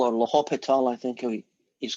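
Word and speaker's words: L'Hôpital: Le Hospital guy.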